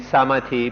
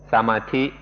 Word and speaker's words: samadhi: Thai pronunciation is samadhi, and often you'll hear foreigners pronounce it samadhi.